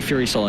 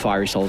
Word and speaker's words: Fiery Soul: But we still say Fury Soul instead of Fiery Soul for the leaner.